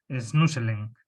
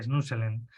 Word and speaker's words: Snoezelen: sale mal el nombre, se escribe Snoezelen, ¿no?, Snuselen, ¿no?, de estimulación multisensorial, con